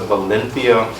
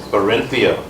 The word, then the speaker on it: Barinthia: Madam President, it will be mentioned that Toastmaster Valenthia, but the correct pronunciation of the name is Barinthia.